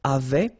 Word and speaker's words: avaient: Ils avaient, so remember, even if we've got this A-I-E-N-T, well, we don't pronounce it, or we don't pronounce this E-N-T, so we get avaient, okay, phonetically.